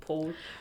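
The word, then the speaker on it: Pál: You got all these really complicated names pronounced, and you got Paul. It's like pronounced P-A-L, but then in brackets it's Paul, so I think he goes by Paul, and he was born in 1598.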